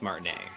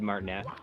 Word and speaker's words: Martinet: Aaron Welsh says that your woohoo is now more iconic than Charles Martinet's woohoo.